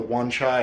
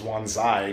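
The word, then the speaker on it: Wan Chai: And I am now in the Wanchai area, which I always thought was Wanzai because of Shenmue. It's Shenmue 2 specifically was like, "Oh yeah, this is pronounced Wanja Wanzai."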